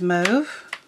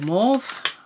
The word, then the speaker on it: mauve: And then next one is Mauve, or Mauve, pronounce it Mauve.